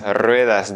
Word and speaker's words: rueda: Dans ce cas-là, tu peux voir les trois nuances, donc un seul R au début, comme dans rueda, tu vas le prononcer un petit peu plus fort.